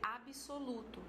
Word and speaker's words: absoluto: Então, você tem, por exemplo, a palavra absoluto. Da pronúncia, você pode dizer absoluto, tá certo? Então, você inseriu o I aí entre as duas consoantes.